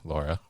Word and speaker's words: LoRa: right is the the Laura technology right which is l r a but I I was told to pronounce just like the lady's name Laura right absolutely yeah so